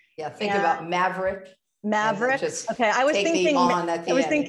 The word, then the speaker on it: Maverick: Am I pronouncing that right, Amy? Maveron. Yeah, think and about Maverick. Maverick.